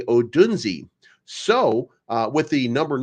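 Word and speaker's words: Odunze: by the way um I was told that I'm saying his last name wrong that I have to say because there's an e at the end that I have to say odunsi so uh with the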